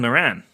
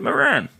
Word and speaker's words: Moran: pronunciation yeah that's true does he really not pronounce it Moran no I think it's Moren that's what I was